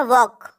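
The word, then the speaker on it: walk: एच आगे बढ़ते हैं वॉक डब्लू ए एल के स्पेलिंग अच्छे से याद रखें एल इसमें साइलेंट होता है इसको पढ़ते हैं वॉक वक मन होता है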